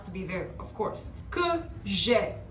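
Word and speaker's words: que j'aie: Que j'ai. Not j'ai, que j'ai. That is the pronunciation, j'ai, because of the E at the end.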